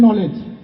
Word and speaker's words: knowledge: শব্দটাতে কে নলেজ হবে না, হবে নলেজ। আপনি নলেজ শব্দের আগে কে বলছেন কেন? আচ্ছা বানান করো দেখি। KNOWLEDGE নলেজ। এই যে প্রথমে যে কেডা আছে এই কেডা উচ্চারণ করবো কেন? তোমার দাদা? দাদা কেন? আপনি সব কি বলছেন? নলেজ শব্দের আগে কে থাকলে সেটা উচ্চারণ হবে না।